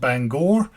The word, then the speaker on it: Bangor: lot of time in the place that is pronounced Bangor and that's in Maine it took a while